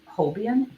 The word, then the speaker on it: Holbein: I also like Holbein.